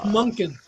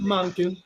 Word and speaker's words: Monken: It's Munkin, Munkin, whatever. not Monkin.